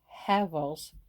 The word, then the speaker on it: Havel's: big rage was the heavens h-a-v-e-l apostrophe s Havel's I don't pronounce well so I'll spell it thread Snips